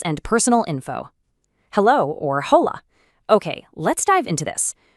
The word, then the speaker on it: hola: Just a quick micro tip to kick us off, the letter H at the very beginning of hola is completely silent. It's just pronounced hola.